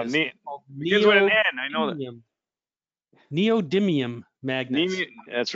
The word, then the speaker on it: neodymium: name of the magnets i always have difficulty pronouncing this neodymium magnets that's right how's that jim neodymium thanks for telling us that but anyway yeah